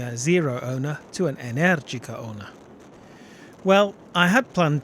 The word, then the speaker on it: Energica: Yes, I've figured out how to pronounce Energica properly, with the stress on the second syllable after watching an interview with Energica CEO Livia Cevolini.